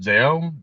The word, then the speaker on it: ZO: not seen uh what how is it pronounced zo zo no common riter zo z o That's goo